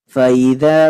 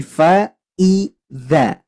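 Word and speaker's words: فَإِذَا: sini ada Hamzah kasrah ingat ini bukan Alif tapi Hamzah kasrh maka ketika dibaca tidak boleh diseret Faza faidza enggak boleh tapi Fa Iza faidza nah gitu ya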